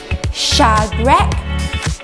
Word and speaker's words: Shadrach: young men your names are slightly hard to pronounce say with me Shadrach Meshach and Abednego that's right correct okay let's